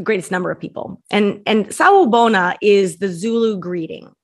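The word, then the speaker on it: Sawubona: It's the beautiful greeting, Sa Ubona. Is that how you pronounce it?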